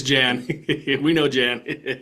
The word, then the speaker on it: Jan: I apologize Jan or if it's if it's Yan. I talked with somebody who had the name spelled that way. They pronounced it Yan. So either way um it's Jan.